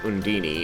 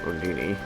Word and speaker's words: Undine: We could summon Undine, which I think she pronounces Undini in this game. If I remember right, because that's how I pronounced it for a long time, and I know it was because of this game, so Undini. Who exists somewhere in this